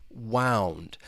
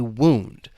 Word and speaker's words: wound: Wound. And wound, this is a noun. This is just referring to well, if you get hurt or injured and you have a wound. So wound and wound.